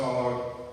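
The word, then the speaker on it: Saulog: So pray for the Sologs, and it's spelled S-A-U-L-O-G, like Saul the Apostle, or Saul of Tarsus, Saul, S-A-U-L-O-G, Solog.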